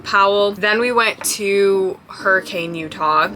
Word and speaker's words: Hurricane: Then we went to Hurricane, Utah, or as the locals pronounce it, Hurricane.